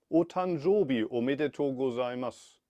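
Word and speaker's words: お誕生日おめでとうございます: And how do you pronounce this happy birthday in Japanese I received from my bank? I couldn't read it. Otanjobi omedetou gozaimasu.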